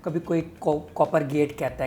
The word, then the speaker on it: COPPERGAT: ठीक है, जो ठीक इसका है, सही मतलब इसका नाम है, सही इसका नाम कॉपर गैट कॉपर ही है।